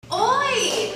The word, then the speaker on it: oi: How do you say oi?